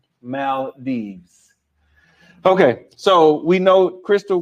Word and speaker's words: Maldives: like to go to the Mal Dives I was like oh I'm sorry I'll say it right the next time so y'all heard me if you're watching tonight I learned my lesson okay Mal Dees okay so we know